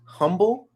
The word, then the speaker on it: Humble: one is here in humboldt texas in northeast houston um did you say humboldt it's called humble texas so it's spelled it's spelled humble but out here in texas they say humble that's a whole different